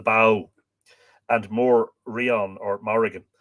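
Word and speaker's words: Badhbh: Rion uh bow or the Bob as you would have seen a badb b-a-d-h-b-h it's spelled here the bow and more Rion or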